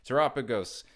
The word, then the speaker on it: Terapagos: Terapagos, pronounced like Terapagos EX Double Rare from Stellar Crown, is down to $13.42.